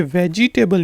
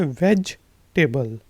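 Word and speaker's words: vegetable: यहाँ पे ये जो ई है ये साइलेंट है, ये वेजिटेबल नहीं कहलाता, ये होता है वेजिटेबल।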